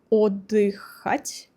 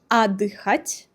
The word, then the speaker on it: отдыхать: Well, probably you've read it something like Отдыхать. In reality, it is Отдыхать.